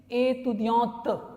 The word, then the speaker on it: étudiante: Male के लिए étudiant, female के लिए étudiante, तो sound आएगा, है ना, क्योंकि अगर टी के बाद ई होता है तो हम टी तक प्रोनाउंस करते हैं, और टी के